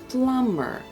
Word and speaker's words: plumber: The first one is a plumber. Pay attention to the word. We don't pronounce the letter B.